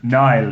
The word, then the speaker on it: Niall: or it's Niall, not Neil, as many people get it incorrect.